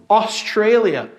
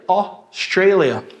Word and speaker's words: Australia: AU faz o som de O. O. Australia. Australia.